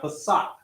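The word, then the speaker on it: פסח: Remember, because now when you spell it out, those letters are going to be Pa, Sa, and Ka. Ka, the strong pronunciation. So when you put that together, you have Pasak. Pasak, as in Passover.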